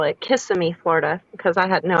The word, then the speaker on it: Kissimmee: when I first moved to the South, I used to call it Kissimmee, Florida, because I had no idea how to Yeah, pronounce no, it.